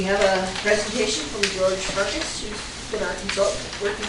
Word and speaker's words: Farkas: It's Farkas, correct? You did. Good. Oh, my dad would pronounce it Farkas, but close enough.